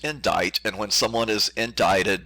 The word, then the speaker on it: indict: is the word indict it's it looks like indict but it's pronounced indict and when someone is indicted they are simply